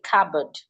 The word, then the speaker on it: cupboard: Rather we should say cupboard.